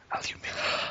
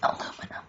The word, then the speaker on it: aluminium: Well, to make you angry, I could quite easily say aluminium. The correct That's aluminium. It is spelled differently now.